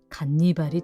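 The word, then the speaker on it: Ганнибал: 러시아 H 발음이 G로 표기되기 때문에 한니발이 아니라 간니발이 되었던 것.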